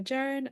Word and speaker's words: Jaron: in Japan: Violet Evergarden by me, Watamote by Jaren, and The Disastrous Life of Saiki K by Mikey.